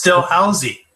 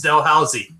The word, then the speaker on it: Dalhousie: Oh, is how it's pronounced? Well, there is some discussion on this issue. It's Dalhousie.